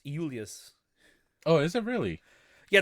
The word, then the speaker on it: Julius: No, it's funny because in Latin that's how his name would be pronounced, Julius. Oh, is it really? Yeah, there was no actual J letter or sound in the Latin language.